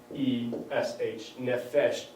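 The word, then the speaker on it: nefesh: wind is nephesh right you pronounce that n-e-f-e-s-h nephesh and it means wind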